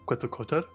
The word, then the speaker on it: Quetzalcoatl: When I think hair on, like, lizards, I automatically just kind of start referencing, Quetzalcoatl.